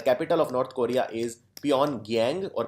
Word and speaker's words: Pyongyang: The capital of North Korea is Pyongyang, or Pyongyang as it's pronounced.